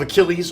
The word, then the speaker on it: Achilles: and it was like Achilles and they got it wrong because they mispronounced it. Achilles.